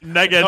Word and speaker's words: Ngannou: Il est dur à prononcer son nom en passant. Moi, je dis Ngannou.